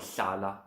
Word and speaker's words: hlala: And I spoke about hlala a while ago. So lifting your tongue up to your palate and blowing out through the sides. A word like hlala comes out of that.